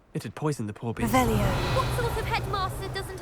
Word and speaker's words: Revelio: Rebellious.